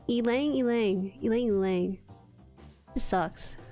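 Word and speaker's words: ylang-ylang: E, it's pronounced E. Elang. Elang.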